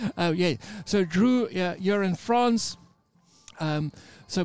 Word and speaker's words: Dreux: am I pronouncing it we don't pronounce the last bit of the words that's like oh yeah so Drew you're in France um